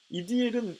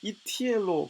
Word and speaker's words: 이디엘: 이디엘은 이티엘로 발음해야 하는데 그 의미는 하나님께서 함께 하셨다라는 뜻입니다.